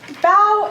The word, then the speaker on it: bao: to pronounce it so bao is just as chinese steamed bun with savory or sweet filling and so the kitty is telling us bow is pronounced like bow like when you take a bow and not like bow